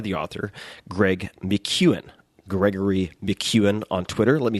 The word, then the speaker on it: McKeown: you read by the author Greg McEwan Gregory McEwen on Twitter let me spell that for you it's a little tricky for